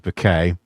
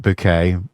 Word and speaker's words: Bucket: Those of you who are fans of Keeping Up Appearances, Dame Patricia playing the character Hyacinth Bouquet, always pronouncing it bouquet, even though it's spelled bucket.